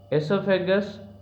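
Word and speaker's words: oesophagus: एसोफेगस, इसका pronunciation ई से start होता है, ध्यान से देखो तो, लेकिन इसकी स्पेलिंग ओ से स्टार्ट होती है, ओ साइलेंट रहता है.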